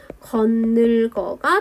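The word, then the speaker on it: 겉늙어: 건늙어 같은 경우에는 지금 이 부분은 그냥 연음입니다. 대신에 이 티읕을 좀 조절을 해줘야 되는데 평파음화 시켜서 디귿으로 바꿔서 건늙어가 되고요. 뒤에 있는 니은의 영향을 받아서 디귿이 비음화돼서 건늘거가 됩니다.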